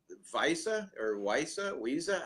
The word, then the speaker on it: Weisse: Crimson American Berliner Weisse, how is that pronounced?